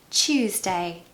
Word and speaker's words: Tuesday: Tuesday to Wednesday but the hack is that it's just the word choose and then day Tuesday easy now on Tuesdays